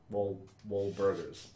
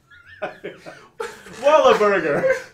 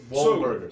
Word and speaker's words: Wahlburgers: Wahlburgers. Why did you add a syllable to their name that you just said? Wahlburgers. Wallaburger.